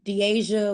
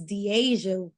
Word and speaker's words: Deasia: even you know uh the Asia wouldn't she always says I say it wrong but it's Deasia would would tend I